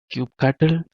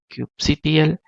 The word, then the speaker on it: kubectl: kubernetes and Cube CTL this has different different way people used to call like Cube cattle Cube CTL Cube control so in case you